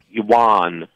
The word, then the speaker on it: yuan: But I think they're not purposely responding, keeping the yuan. Right. That's how you pronounce it, low.